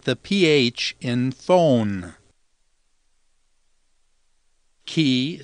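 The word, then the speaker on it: χ: the pH in phone ki sounds like the CH in chemical C sounds like the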